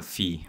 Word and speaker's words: phi: concept is that of a fee or five depending on how you want to pronounce it this this is an